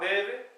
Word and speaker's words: nevez: Andouar, neve, Andouar, la terre, douar, c'est terre. Neve, qui s'écrit, Nevez, mais qui se prononce en le neve, donc jusqu'à Terre-Neuve.